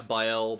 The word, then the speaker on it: Baal: Yeah, Baal, Baal, yeah.